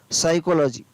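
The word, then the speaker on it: psychology: फिर है पी एस वाई सी एस ओ एल ओ जी वाई, क्या पढ़ेंगे इसको, साइकोलॉजी, क्या पढ़ेंगे, साइकोलॉजी। तो इतनी बड़ी स्पेलिंग है, बहुत ही याद हो जाएगी आसानी से।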